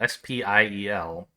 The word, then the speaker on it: Spiel: the the word spiel s-p-i-e-l which i assume comes from german because they have a word spelled the same but in german i believe it's pronounced spiel right with like that shh sound and so i don't